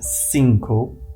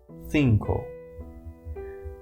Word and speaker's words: cinco: It's not exactly cinco, it's cinco.